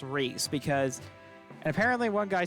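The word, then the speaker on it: Rhys: Oh yeah, I actually did ask the Discord for Fire Emblem Wiki, and they all agreed that Reese is pronounced Reese because, and apparently one guy speculated that it's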